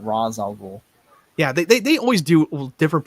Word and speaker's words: Ra's al Ghul: Just like they trade Ra's al Ghul, Ra's al Ghul. Yeah, they always do different pronouncing.